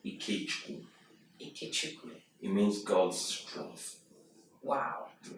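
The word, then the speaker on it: Ikechukwu: have this wonderful Nigerian name how do you pronounce it um it's iku ikuku it means God's Str wow so it's James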